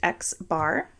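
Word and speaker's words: x̄: pronunciations of these items the X with the line over at is pronounced X bar I don't think we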